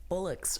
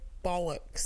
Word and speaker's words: bollocks: had used the word Bullocks earlier Bullocks Bullocks I said bollocks bollocks yes that's how you said bollock I'm sorry